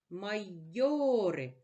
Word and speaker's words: майори: наголошений у слові майори майори наголошений голосний о наголос падає на другий склад підведемо підсумок уроку і